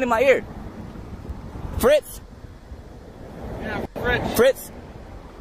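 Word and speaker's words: Fritsch: Yeah, Fritz. Fritz? Spell that for me.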